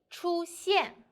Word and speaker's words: 出现: The word of today is 出现. In this video, I will teach you how to pronounce it, how to write it, and how to use it.